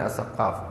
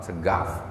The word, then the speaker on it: As-Saqqaf: Sayyidi Syekh Abdurrahman As-Saqqaf, Segaf kalau bacanya boleh.